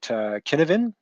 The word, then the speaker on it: Cynefin: Then we're going to look at Cynefin. That's as far as I know the correct pronunciation. It's a Welsh word.